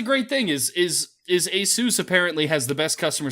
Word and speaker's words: ASUS: quick like I if that's the way it's pronounced cool I a sis's how I've said it my whole a suspense